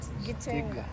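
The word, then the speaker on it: Gitega: Gitenga.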